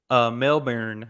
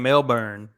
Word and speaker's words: Melbourne: was like, okay, Brisbane, How do you say Melbourne, the city down south that begins with an M? Melbourne. I was saying Melbourne, and they were like Yeah, Melbourne, close enough.